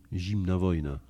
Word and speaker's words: Zimna wojna: Zimna wojna.